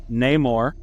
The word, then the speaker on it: Namor: His actual name, or from what I understand, is pronounced Namor.